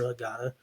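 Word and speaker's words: הגדה: Um so anyway, you typically use a book called a hagada. That's how you say it in Hebrew. Hagada.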